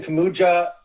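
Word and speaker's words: Kuminga: Jonathan Kamuja, did I say his name right?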